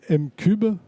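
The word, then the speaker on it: M'Cub: Votre agence s'appelle M-Cube. Oui, c'est comme ça qu'on prononce.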